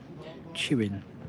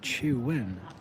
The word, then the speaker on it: Chuen: and then the next one we got is cheerwing what are you cheer why are you cheering there looks like little and a little no would you would you it's pronounced chein what you chew in now chewing now so